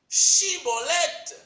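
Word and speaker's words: Shibboleth: Les tests phonétiques qui suivirent montrent que dans les dialectes éphraïmites, de même qu'en amoréen et en arabe, S remplace le SCH. Le mot Shiboleth désigne un cours d'eau en creux. Un test phonétique permet d'identifier les Éphraïmites puisqu'ils n'arrivent pas à prononcer les sons ch de Shiboleth.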